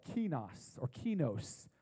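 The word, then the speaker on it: κενός: word that Paul uses is a word called key nos or key knows it's actually pronounced key knows he knows and what key knows means is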